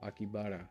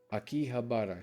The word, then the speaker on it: Akihabara: Akibara. Akibahara. Akihabara.